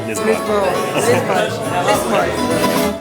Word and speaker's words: Lisboa: Lisboa.